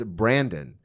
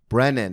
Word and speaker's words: Brennan: name no it's more mostly it's Brandon brand and I'll be like there's no D and they go Brendan and I go Brennan and they go this